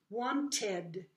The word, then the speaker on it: wanted: Now, si el verbo termina en D, letra D, O, T, letra T, la letra I se pronuncia. Por ejemplo, here, want, wanted. So, tenemos dos sílabas aquí.